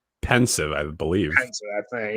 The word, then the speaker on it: Pensieve: visions when you're in the pen is it pronounced pensive or Pensieve pensive I believe is I think yeah I've never